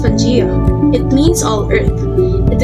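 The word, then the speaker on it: Pangaea: about the pangea huh but what it is pronounced pajeo it means all earth it is believed to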